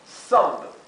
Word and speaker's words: thumb: Otro ejemplo, thumb. Thumb es pulgar. Thumb. Se pronuncia claramente la B final, ¿sí? Y la TH es F, y la U es algo intermedio entre una A y una E.